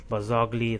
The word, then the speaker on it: Barzagli: It's Barzagli, that's how you pronounce it.